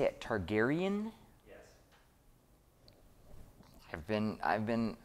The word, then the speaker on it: Targaryen: the the turd how do i say it targaryen yes i've been i've been uh approved i